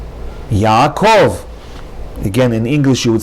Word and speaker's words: Yaakov: Next word, Yaakov, not Yaakov, Yaakov. Again, in English you would say Jacob with the accent on the first syllable. In Hebrew, the proper pronunciation is not Yaakov, but rather Yaakov.